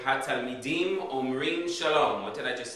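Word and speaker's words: אומרים: Instead of omer, it's omrim. And then omrot for feminine.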